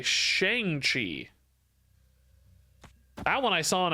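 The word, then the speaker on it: Shang-Chi: one is oh oh I hear a lot of Shang cheese instead of Shang Chi I feel like I hear pretty much every other streamer say Shang Chi that one I saw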